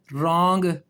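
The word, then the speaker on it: wrong: और जब आर आ जाए तब भी डब्ल्यू साइलेंट हो गया। देखें राइट रैप रॉन्ग उसके बाद जो है वो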